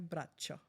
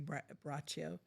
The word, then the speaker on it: Braccio: Well, when I was growing up, my name was Bracho. And uh so when I joined the Navy, it was Brachio.